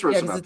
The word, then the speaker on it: Rocinante: It's C, not K. Okay, it is Rocinante. Yeah, it's old Spanish. Okay, that's how I'd always heard it pronounced.